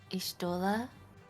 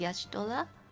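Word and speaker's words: Y'shtola: you for your services in AR they pronounce uh her name as Isa which I then just copyed but apparently the Japanese original pronunciation is Yash M and that's what they also uh use from started to use starting from Heaven's word yeah I I I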